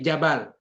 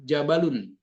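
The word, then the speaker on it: جبل: di ujung-ujungnya itu Pak misalnya gini Jabal jarang orang nyebut jabalun itu jadi Jabal aja atau misalnya kita bilang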